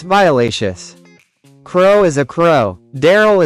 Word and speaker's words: Daryl: Daryl is a name that rhymes with barrel.